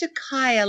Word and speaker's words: Shakaya: wrong no that's okay it's shakaya like Gaia like Mother Earth everybody gets my name